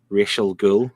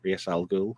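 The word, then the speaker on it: Ra's al Ghul: a subject people know people pronounce it real and then Raz algo yeah but racial girl may mix it clears day it's Reyes al Ghul you know yeah yeah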